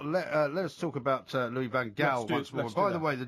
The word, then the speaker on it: van Gaal: way, the definitive version of his name, Louis van Gaal. apparently MUTV, which is Manchester United's in-house TV station, as I'm sure you know, I do. pronounces it Van Gaal.